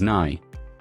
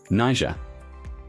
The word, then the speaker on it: Niger: Pronounced as Niger. Niger. The first syllable is pronounced as Ni, rhyming with my.